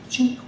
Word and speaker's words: Cinque: And sinked is an Italian spelling, and you pronounce it cinque.